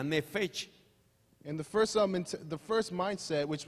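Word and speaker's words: נפש: La primera de la cual hablábamos, que fue la mente inicial, se pronuncia nefesh.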